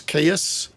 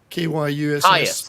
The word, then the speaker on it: Kyuss: Well, no, this is I can never pronounce it. Caius, Kyuss. Caius.